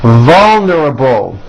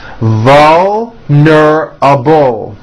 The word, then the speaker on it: vulnerable: Vulnerable. Give that a strong L. Vulnerable.